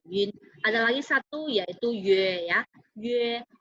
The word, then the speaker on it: yue: Ada lagi satu yaitu yue ya. Yue. Jadi yu dan bacanya yue. Penulisannya adalah y u e.